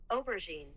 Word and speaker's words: aubergine: Pronounce. Here we go. Okay. This is how it is. Aubergine.